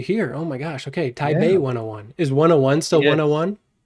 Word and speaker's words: Taipei: Why do we write it with a P then?